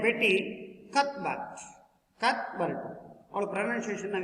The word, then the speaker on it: Cuthbert: Betty Cuthbert, it means pronounced as a Betty Cuthbert.